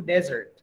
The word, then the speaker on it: desert: I think the pronunciation is dessert. Sedangkan Padang pasir itu desert.